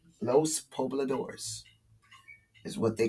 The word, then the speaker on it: Pobladores: Oh, Pobladores. It's like a Lador, like a Labradors. Okay, so it's Pobladores. Los Pobladores is what they call themselves.